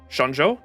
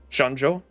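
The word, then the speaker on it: Xianzhou: is it sha Shan shanjo shanjo I think because the X X is pronounced like sh in Chinese right so Shan shanjo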